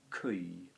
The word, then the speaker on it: cui: creme cram good cause well it's actually a diphthong it's cui is pronounced kui um okay so date